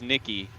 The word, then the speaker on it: Nikki: And yes, it is Nikki. Noman, I was corrected again.